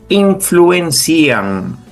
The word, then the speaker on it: influencian: Y aquí la pronunciación es influencian.